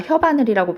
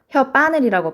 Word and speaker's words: 혓바늘: 원래는 혀와 바늘이 합쳐진 건데 우리가 혀바늘이라고 발음하지 않는단 말이에요. 혀바늘이라고 발음한단 말이죠.